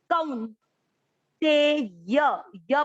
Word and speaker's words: कौन्तेय: क पर है औ की मात्रा, कौ, आधा न, कौन ते य पूरा, य में अमिक्स किया, कौन ते य।